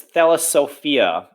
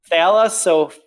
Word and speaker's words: Thalassophobia: I don't need what's her name making another voice recording of me mispronouncing things. Oh, goodness. Okay, card 331 is an action rare. It's Thalassophia. Now you're making me. Thalassophobia.